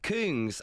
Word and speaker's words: Kungs: No, it's pronounced Kungs officially really?